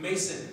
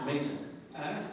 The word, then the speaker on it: Maison: Mason, but it's spelled the French house, Maison, but it's pronounced Mason.